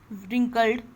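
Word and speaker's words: wrinkled: Look at his long white beard and हिज रिंकल्ड face. उसने, अगले ने कहा कि उसकी ये लंबी सफ़ेद दाढ़ी देखो. एंड हिज रिंकल्ड फेस, इसमें डब्ल्यू साइलेंट होता है.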